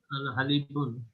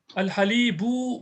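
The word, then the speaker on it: الحليبُ: Al-Halib, Al-Halibun. Al-Halib. Al-Hali, Al-Halib. Al-Halibu, bun. What do you think? Al-Halibu. Not bun, because Al is there.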